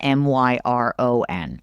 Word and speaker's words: Miran: Don't spell your name Miran and pronounce it Myron.